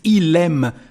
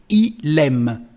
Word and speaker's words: il aime: Because the pronunciation of il aime actually is il aime. As you can see, the last letter of our subject become the first letter of the verb, just when you speak. So it's our liaison here. Il aime, il aime.